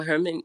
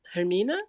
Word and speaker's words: Hermina: interested to hear how Herman um Hermina if I'm pronouncing your word your name right how you think about that in terms of your sculptural practice yeah I mean you pronounced it perfectly and it's so interesting